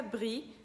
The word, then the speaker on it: brie: bastante é o brie, que em francês fica brie, porque tem o R coçando a garganta. Brie. A palavra brie termina com IE. Em francês, quando é IE juntos, é só o som de I.